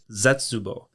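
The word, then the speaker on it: 絶望: And despair is zetsubo. Zetsubo is spelt Zetsubo.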